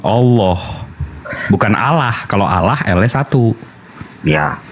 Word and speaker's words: Allah: preposition preposition bisa gu nah sama kayak Allah lnya double ditekan Allah bukan Allah kalau Allah lnya satu